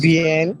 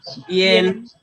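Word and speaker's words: bian: Actually, we write a, but we are pronouncing the e.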